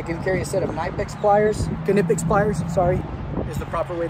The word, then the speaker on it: Knipex: I can carry a set of, I can carry a set of Knipex pliers, is the proper way to say it.